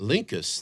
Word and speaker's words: Linckus: it all I will feel bad uh lincus Linkus that's right Linkus that actually sounds yes